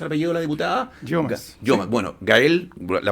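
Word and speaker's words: Yeomans: ¿Cómo se pronuncia el apellido de la diputada? Llomas.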